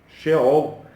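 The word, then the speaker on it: Sheol: já deixaram o corpo a palavra é fiel ao shell é assim que se pronuncia uma palavra transliterado do hebraico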